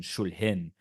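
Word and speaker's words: Шульгін: Another branch of the family turned into the direction of Ukrainian culture, Ukrainian nationalism, and called themselves, in Ukrainian pronunciation, Shul'hyn.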